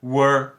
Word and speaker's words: world: old Ok então agora você pode começar a juntar bem devagar world world acelerando world world world